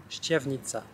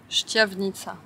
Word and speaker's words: Štiavnica: Nous voilà arrivés à Banska Štiavnica, que j'ai bien prononcé cette fois-ci. Štiavnica. Štiavnica.